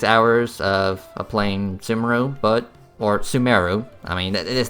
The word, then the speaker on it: Sumeru: Sumeru, but, you know, it's pronounced Sumeru, or at least in English.